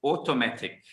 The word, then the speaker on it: automatic: Okay, so it's automatic. Okay, and pronounce the k sound at the end though.